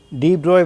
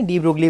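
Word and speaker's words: de Broglie: आज हम समझते हैं डी ब्रोई वेवलेंथ, या स्पेलिंग के हिसाब से हम इसे डी ब्रोगली वेवलेंथ भी कह सकते हैं।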